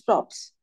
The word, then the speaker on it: props: you extra things sorry last time I pronounce it wrong it's not promps it's props extra things now stage